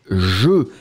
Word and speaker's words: jeux: Quand vous le mettez avec le X, c'est le pluriel, les jeux. J-E-U-X, qu'on ne prononce pas.